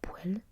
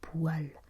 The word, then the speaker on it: poêle: cuisine et leur dérivé se prononce poêle, comme un poêle et non poêle. Je venais justement d'avoir un doute au sujet de leur prononciation et c'est bien poêle et non pas poêle.